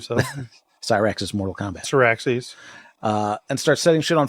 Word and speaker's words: Syrax: I want to say Cyrax. Yeah, I believe so. Cyrax is Mortal Kombat. Syraxes.